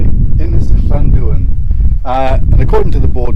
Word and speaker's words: Ynys Llanddwyn: So, we've come to Ynys Llanddwyn. I think I've pronounced that correctly. Ynys Llanddwyn.